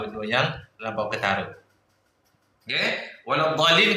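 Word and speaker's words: ولا الضالين: Waladdallin kau jangan baca walassad.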